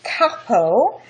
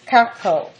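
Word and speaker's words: Carpeaux: relation to sculpture is Jean Baptist Caro that's spelled capital c a r p e a u x Caro c a r p a ux although born um in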